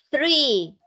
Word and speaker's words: three: Las palabras con TH botan un airecito porque la lengua va entre la punta de los dientes, ¿ok?